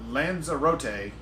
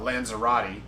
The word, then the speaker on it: Lanzarote: would describe uh uh Lanza rote is the preferred acronym from from the Spanish people uh that's the preferred pronunciation not acronym sorry man words okay um so preferred pronunciation from we way we got it from Spanish people the one uh British announcer that said the name said it uh lanzera like Maserati but lanzera so that's the that's